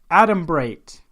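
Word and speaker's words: adumbrate: of the week is atom bright and it does not sound how you would spell it generally it's ad um br8 EE so the ending sounds like I you'd spell it and this word means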